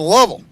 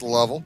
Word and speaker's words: Lovell: That pitch, Worman, blows it past Lovell. L O V E L L. I'm going to go with the Jim Lovell pronunciation.